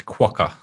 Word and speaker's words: quokka: correct you on the pronunciation from an australian's point of view it's quokka there's a quack anyways like